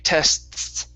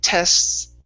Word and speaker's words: tests: Now, it's important to note that here when we have an STS, okay, it's not always necessary to pronounce that T, saying tests, right? Because it's a little complicated there. So if you just elongate the S sound, so saying tests, okay, that's okay.